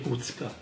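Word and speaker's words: Kucka: Si legge Kučka.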